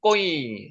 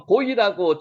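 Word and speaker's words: גוי: 꼬이, 요게 꼬이, 꼬이, 딴기역으로 꼬이, 발음은 나는데 실제로 적을 때는 고이라고 적을 수도 있고요. 꼬이라고 적을 수도 있습니다. 그게 너무 신경 쓰지 마세요. 여러분도 표현할 때 꼬이라고 해도 되고요. 고이라고 해도 됩니다.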